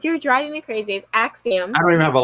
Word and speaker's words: Axiom: accident yes if you're driving me crazy is Axiom I don't even have a license to do